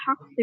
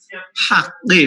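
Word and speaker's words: حق: সবর হাক্কি মানে কাফ, কেমন? এটা উচ্চারণ করতে হবে সুন্দর।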